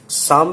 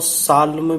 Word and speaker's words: Psalm: Students, मैं आपको confusion दूर कर दूं, इसको पी इसमें साइलेंट रहेगा, शाम भी बोलते हैं और साल्म भी बोलते हैं, दोनों प्रोनाउंसिएशन इसके ठीक है।